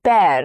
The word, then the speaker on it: bear: Next is bear. Now here E-A-R takes the sound of air, something like air, bear. It rhymes with pear or hair.